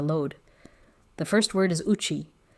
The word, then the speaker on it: uchi: The first word is uchi. Spelled u c h i, pronounced uchi.